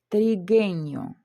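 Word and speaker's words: trigueño: Унгуенто, тригеньо. Тут ми бачимо, що в нас іде хе, далі йде у і е. Коли у нас є таке буквосполучення, то у нас у не читається.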